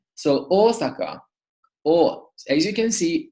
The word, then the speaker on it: Osaka: the word Osaka Osaka to say the Japanese city Osaka we pronounced a long all at the beginning so Osaka or as you can